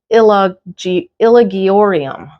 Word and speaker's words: Hoya ilagiorum: I always say ilagiorum, but it's actually ilagiorum.